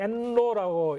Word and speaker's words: NLAW: 그 이제 엔로라고 읽을 수 있는데요.